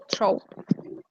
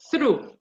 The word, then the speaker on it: through: is stroke and the letter is the O true okay the correct pronunciation is through true okay through when you see this H